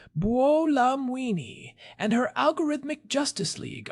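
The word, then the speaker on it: Buolamwini: I saw that Joy Bulamwini pronounced Bolamini and her algorithmic justice league are having a massive hiring surge for policy analysts.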